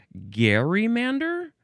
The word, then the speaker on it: gerrymander: Um, you could also say, I guess some people say Gary Mander. Hm. Is that what I'm seeing? Gary Mander. Um, what's the difference between these two pronunciations? I'm I'm seeing these these look exactly the same. I don't know what's the difference between these. Um, anyway, I'm going to say gerrymander. That's what most of us are saying and hearing.